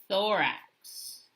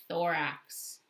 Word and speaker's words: thorax: can you tell me it rhymes with the word lorax that's how i remember it so just like dr seuss and the lorax right this is the thorax thorax and then what's the